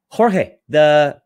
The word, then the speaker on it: Jorge: Jorge, I pronounced correctly? Yeah, that's correct.